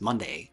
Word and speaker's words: Monday: Monday, spelled like Monday, the day of the week, but pronounced as Monday, means something like stolen river or water that steals.